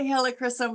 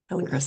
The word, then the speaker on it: helichrysum: How do you say it, Lisa? I say helichrysum, but yes, I've heard it the other way as well. So helichrysum.